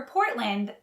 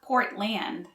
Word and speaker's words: Portland: a broadway show for portland the land is pronounced more like lind so it's not portland it's portland portland portland the friendly city